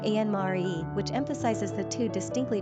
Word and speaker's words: Annemarie: As a female given name by itself, Annemarie was mainly a coinage by the Dutch and Germans, pronounced ahn-nə-mah-REE. The English typically say ahn-nə-mah-REE, which emphasizes the two distinctly different names they are.